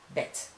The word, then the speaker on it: bed: middle, no problem, but at the end of the word, you should pronounce it as T. So we have also in Dutch, as in English, the same word, bed. You say bed, we say bed.